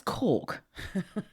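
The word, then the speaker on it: quark: Um, but then also said, "What is cork?"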